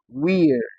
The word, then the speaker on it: weird: So, in this word ei, the letters ei sound rather it is giving us a div tongue. Weird. Weird. Weird.